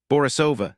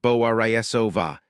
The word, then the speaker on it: Borisova: "Borisova, the stress is on the third syllable. Borisova, not Bo-a-ri-e-so-va."